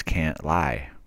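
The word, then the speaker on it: Cantlie: the British hostage John kley was shot in no no no no you said his name wrong dumb it's can't lie right and the movement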